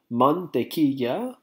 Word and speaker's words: mantequilla: So you have man, your first syllable, man, te quilla.